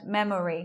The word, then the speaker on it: memory: We're not saying the O sound. We're not hearing it in the word. Memory. We're not hearing it like that. Saying memory.